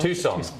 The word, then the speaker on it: Tucson: FIFA hasn't confirmed the move, but Iran have been scheduled to train in uh how do you pronounce that? Um, Lori Tus Tucson, Tucson, Arizona, but a move has been a possibility